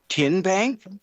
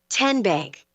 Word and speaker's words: TN Bank: How do you say the name TN Bank? Nope. Tin Bank. Uh-uh. So, what is it? Tenbank. 10 as in Tennessee.